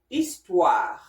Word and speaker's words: histoire: So, now, H-E, as in the word histoire.